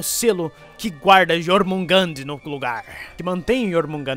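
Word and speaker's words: Jörmungandr: Sim, se pronuncia Jormungand. Eu sei pronunciar Jormungand, né? Jormungandir, né? Que ele se escreve assim, mas eu não sei pronunciar Cheyenne.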